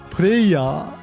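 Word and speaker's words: プレイヤー: In Japanese, this would be pronounced preya. That last sound is a lengthened vowel.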